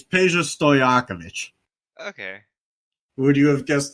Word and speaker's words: Peja Stojakovic: I was about to say, do you know how to pronounce it? It's easier than you think. It's Peja Stojakovic.